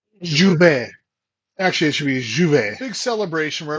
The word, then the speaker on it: J'ouvert: You know, we just went through the Grenada J'ouvert J'ouvert Actually, it should be J'ouvert. They don't pronounce the J hard.